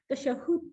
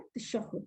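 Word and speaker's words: تشهد: इसका प्रोनाउंसिएशन क्या है? तशहुद। ठीक है, हा के ऊपर तशदीद है, यहाँ पे हा पे ये तशदीद है, यहाँ पे इसको ऐसे करके आप तशदीद के साथ पढ़ेंगे, तशहद नहीं पढ़ेंगे।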